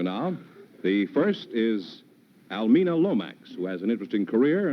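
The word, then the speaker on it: Lomax: Oh, is that the correct pronunciation? Yes, Lomex. Lomex, huh?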